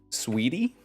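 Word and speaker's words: Sweetea: that game was named sweetie but it was SW it was spelled swe t EA but pronounced sweetie that was fun that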